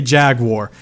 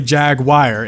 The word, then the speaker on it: Jaguar: said so many ways in America they say Jaguar in other countries they say jagwire and then British people tell me it's a Jag you are at this point I'm